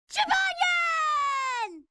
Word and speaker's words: Jibanyan: Jibanyan! I'm pretty busy right now. And there you go. That's how you say his name, because a couple of